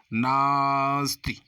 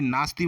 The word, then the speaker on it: नास्ति: जैसे राम नास्ति, यानी नास्ती बोलते हैं इसे मित्रों, जल्दी में नास्ती बोल देते हैं, लेकिन इसका शुद्ध उच्चारण करेंगे तो कैसे बोलेंगे? नास्ति, यानी ना को हम देर तक बोल रहे हैं।